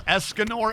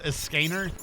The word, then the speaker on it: Esganor: Also, did it did that Texas speech pronounce Esganor as Escainer?